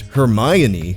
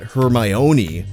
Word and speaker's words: Hermione: Granger first of all her name is pronounced hermion not hermion you could remember where the accent goes because it's on the my as in Hermione is my girl not yours which means